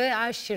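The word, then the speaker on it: Usher: dünyaca ünü rnb sanatçısı Aşir ile doğru mu telaffuz ediyoruz arkadaşlar bakın yanlış söylüyorsan y işte ingil İngilizce Eee u a okunuyor AŞ Ben de Paris'te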